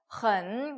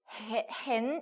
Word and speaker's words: 很: 근데 그 중에 하나가 일본인은 헌 같은 경우를 발음을 hen 이렇게 읽는 경우가 되게 많았어요. 에 발음으로. 그래서 hen how 이래서 선생님한테 되게 많이 혼나고 막 이랬거든요. 여러분께서는 틀리지 마시고 어떻게 읽는다고요? en 어떻게 읽어요? 그래서 삼성 들어왔으니까 헌이라고 읽어주시면 되겠습니다.